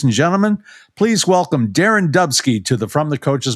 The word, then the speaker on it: Dubsky: Yeah, except it's Dubsky, not Dubsky, but that's all right.